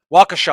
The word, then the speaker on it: Waukesha: town b show i it's like waukesha waukesha i think is the actual pronunciation so they had this